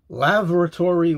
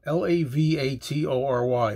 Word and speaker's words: Lavatory: A song called, I'm going to pronounce it two ways, Lavatory Lil. L-A-V-A-T-O-R-Y. Lavatory. Lavatory. Lavatory Lil.